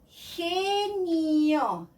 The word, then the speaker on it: genio: So, if I combine it with E or I, it sounds differently. Genio. That means this is drop, this is genius. Gigante, giant, or gigantic, the same. But if I combine it with a U, I get the G sound again for E and I.